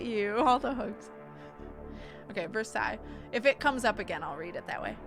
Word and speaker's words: Versailles: date and events okay it's versaille oh versailles i just said it i didn't i thought you were sighing at me okay verse i it's how it's pronounced my bad that was